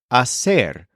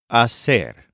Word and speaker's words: hacer: start learning the verb Asser which means to make or to do this is spelled h a c e r and the H at the beginning is silent AER the simplest way to